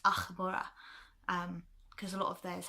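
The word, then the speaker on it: Ah'mora: It was supposed to be an AH''MORA, because she was a blood elf, and it was supposed to be pronounced Achmora, because a lot of theirs had apostrophes in it.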